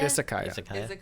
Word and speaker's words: Izakaya: So how do you pronounce the restaurant? Izakaya? Izakaya.